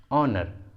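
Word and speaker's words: honor: ऑनर, ऑनर, इन सभी words में एच सामने में है इसलिए एच साइलेंट है, एच का प्रोनाउंसिएशन नहीं हुआ है।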